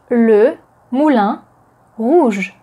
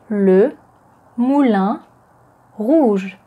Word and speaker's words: Le Moulin Rouge: As Moulin is the masculine noun in French and it starts with a consonant, then the definite article is le. Le Moulin. Le Moulin Rouge.